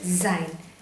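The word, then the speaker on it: זין: മതി ധൃതി വേണ്ട ഓക്കേ അപ്പൊ ഇത് വാം ഇത് സൈൻ സൈ ന്റെ സൗണ്ട് സഹ ഓക്കേ സൈ അടുത്ത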